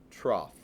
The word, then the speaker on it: trough: be referred to as it does not look like it's spelled normally trough with a G instead it's a weird word okay if I said